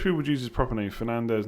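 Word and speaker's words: Fernandes: would use his property Fernandez not Fernandez he's Portuguese not Spanish is it not pronounced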